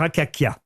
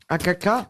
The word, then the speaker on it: Akakia: Sous quel nom connaît-on mieux le célèbre docteur Akakia? Akaka. Akakia. Professeur Le docteur Akakia. Comment ça s'écrit Akaka?